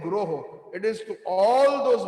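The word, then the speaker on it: guroḥ: It is plural. When we sing the Mangalarti, it is not Vande Guru Sri Charnarvindam. Some of us are mispronouncing. It is Vande Guroho.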